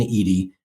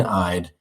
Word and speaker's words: Ihde: screen right now that lane Edy it looks like Lane eyed you really do a